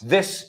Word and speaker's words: this: This is my, no this, no i, No es this. Es this. This. Es como si dices a alguien, ¿qué haces? This. Cortito, this. Vale, mira, this. Sacamos la lengua, this.